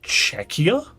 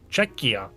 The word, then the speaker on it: Czechia: I think that's pronounced Czechia? I think that's how it's pronounced. Because it's spelt the same way as the Czech Republic, but it's not the Czech Republic, it's Czechia. C-Z-E-C-H-I-A.